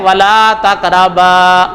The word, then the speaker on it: ولا تقربا: صحیح لفظ ہے ولا تقربا، بے کے ساتھ الف ہے تو الف کو پڑھو.